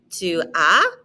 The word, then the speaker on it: Tu as: Tu as, don't pronounce that S. Tu as quel âge?